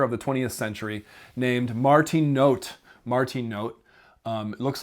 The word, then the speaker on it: Martin Noth: the 20th century named Martin note Martin note um looks like it's pronounced Martin Noth but it's not because he's German so it's Martin note